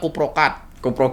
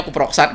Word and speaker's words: Kuproksat: Nah, itu biasanya kita nyarankan, orang taunya kuprokat. Iya. Kuproksat ya. Iya. Teman kami itu kuprokat gitu kan bilangnya, tapi dari bacanya kuproksat gitu kan.